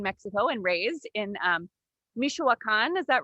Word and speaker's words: Michoacán: was born in mexico and raised in um michoacan is that right wendy did i say it